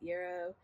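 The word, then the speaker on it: yarrow: It's got lavender, witch hazel, yarao leaf. Some people pronounce it yuro uba ursi um comfry leaf and myrr myr resin in it.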